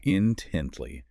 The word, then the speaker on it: intently: Intently. Three syllables. Stress on the second.